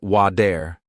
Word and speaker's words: water: For example, water sounds like wader, better sounds like be dare, city sounds like sid-e.